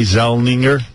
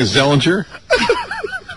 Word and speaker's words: Zellweger: What'd you hear about Renee Zellweger?